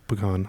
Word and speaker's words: pecan: It's pronounced pecan. A lot of people are like pecans. It's No, pecans. It's pecan. Okay? pecan. You're from the South. It's called pecan.